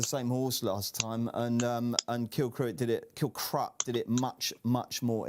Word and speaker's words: Kilcruit: Kilrut is the way I'm told it's pronounced. Yeah.